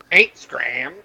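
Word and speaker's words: Hgraam: And that's how you must say his name. H-Gram. H-Gram! Instagram. H-Gram! I think it'd What? be Hegram, but I guess H-Gram will work fine.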